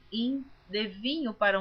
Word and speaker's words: hin: Baldini, que esta palavra hin está escrita H-I-M. Algumas pessoas pronunciam rim. Eu pronuncio como está escrito hin, porque a Bíblia que eu estou lendo é em português, toda leitura em português.